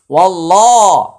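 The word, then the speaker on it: وَاللّٰهُ: এখানে আল্লাহ শব্দের পূর্বে একটি জবর আসছে, তাই এটা উচ্চারণে মোটা হবে, আর মাঝখানে আলিফ এবং লাম এটা উচ্চারণে আসবে না। ওয়াল্লাহ, ওয়াল্লাহ হা পেশ হু, ওয়াল্লাহু।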